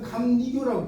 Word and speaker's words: 감리교: 종로라고 읽어요. 그다음에 감리교라고 있잖아요.